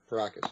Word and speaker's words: Paracas: say with the most recent, and if I'm pronouncing this correctly, it's the Paracas, right? Paracas elongated, Paracas? Paracas, yeah.